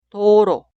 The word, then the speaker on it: 도로: La primera sílaba suena do, do. Y la sílaba al lado suena ro, ro. Leemos las sílabas juntas. 도로, 도로.